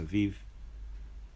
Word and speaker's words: Aviv: month of Aviv this it says here abib a i b but I believe it's pronounced Aviv um so you can